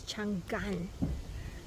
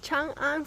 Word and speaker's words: Changan: with all the letters together the sales person pronounced it as Chang Gan yes how can a a person who's representing